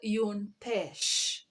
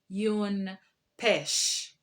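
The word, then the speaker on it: une pêche: we have a peach a peach is called yoon pesh yoon pesh a banana yun banan yun banan an orange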